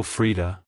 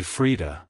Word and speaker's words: Frida: peace it's pronounced as Freda Freda Freda to pronounce it correctly emphasize the e e sound in the first syllable and the aound sound in the second syllable like hello Freda goodbye Freda if you found the